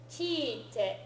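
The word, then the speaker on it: 聞いて: So it's got an extra e, a long e sound in there. Okay, kiite.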